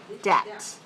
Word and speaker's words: debt: this creates a sleep debt don't produce your lips together for b remember the b is silent debt sleep debt okay put